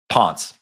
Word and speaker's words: Pontes: Pon. Pon. Okay. Because it's Yeah, it's one syllable. It's Portuguese, so we just kind of kind of mumble everything out there.